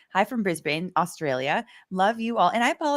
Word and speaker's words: Brisbane: So I see people Brisbane. Brisbane. Okay. Brisbane. Heavy on the first.